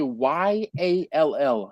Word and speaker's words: y'all: yo all right but there are people who cannot pronounce that properly they be like y' no no it's y'all and there's a there's